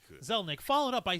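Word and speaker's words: Zelnick: and its CEO Strauss zainik is that how you pronounce that zainik no no no it's zazelle it's a it's an L Strauss my bad thank you zelnik followed up by saying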